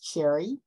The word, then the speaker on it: Cherri: be reached to coach cherry and that's um Cherry is pronounced like the fruit but uh is c-h-e-r-r-i